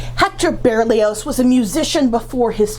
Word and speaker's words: Berlioz: Hector berlios foreign we're not sure how he pronounced it most people today pronounce it with the voice Z at the end of it but it used to be confused and oppressed by with his friend violinist Charles de Barrio whose final T is silent another line of evidence